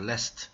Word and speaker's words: lest: t가 묵음이 아니라, t도 발음하는 겁니다. 그래서 lest, 이렇게 되는 겁니다.